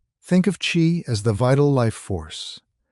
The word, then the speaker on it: qi: At the heart of this map is the concept ofqi, pronouncedqi. Think of chi as the vital life force, the breath of